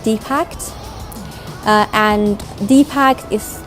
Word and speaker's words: DIPACT: I formed a group called DIPACT, and DIPACT is pronounced as DIPACT, but it stands for Digital or Diverse Innovative Platform for Arts and Communities and Theatre.